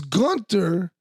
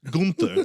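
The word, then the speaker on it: Günther: Gunther. That's how I say it, Gunther. That's how you say it in Germany and Austria, Gunther. Gunther. Gunther. Americans say Gunther.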